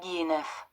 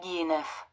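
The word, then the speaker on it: Guihéneuf: So I'm going to read his little French Wikipedia first, but let's find out how to pronounce his goddamn name. Robert Guilleneuf. Robert Guilleneuf.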